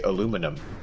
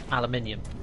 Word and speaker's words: aluminium: Well, I mean, we say even just pronunciations, like we say aluminum. Mm-hmm. Oh yeah, sounds ridiculous. Aluminium.